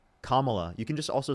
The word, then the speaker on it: Kamala: How do you pronounce her name? All right, then I'll say it right. Kamla, you can just also say uh VP Harris.